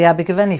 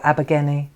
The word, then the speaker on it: Abergavenny: to a country estate that belonged to the Abergavenny family, or Abergavenny, depends how you say it. Abergavenny it's spelled.